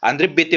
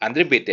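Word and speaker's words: André Béteille: याचं नाव माहिती आहे आंध्रे बेते म्हणतात त्यांना जरी अस स्पेलिंग असलं तरी आंध्रे बेते आहे ठीक आहे तर हे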